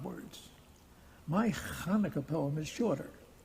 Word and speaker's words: Hanukkah: Now please note my pronunciation of the word. Not Hanukkah, not Chanukah, it's Hanukkah.